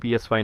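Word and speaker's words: PSY: और पीएसवाई याद है पीएसवाई नाम है ना ऐसे ही सही उच्चारण है मियां का एक पसंदीदा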